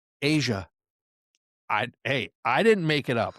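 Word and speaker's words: A'ja: sky's the limit for Ajay her. Wilson is fun to watch, though. She's a beast. Asia. Whatever. Did you say Ajay? How do you say her name? Asia.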